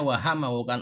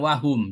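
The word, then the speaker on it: وَهَمَّ: Nah, ini juga bacanya wahamma, bukan wahum ya. Hurufnya sama tapi beda harokat.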